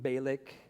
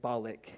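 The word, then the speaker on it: Bialik: Maim Baleik. She's she's a really Okay, thank you. Yeah, Balik.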